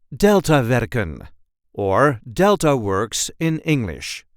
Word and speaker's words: Deltawerken: and this time we will see how to pronounce in a regular Dutch accent delta veren or delta works in English a series of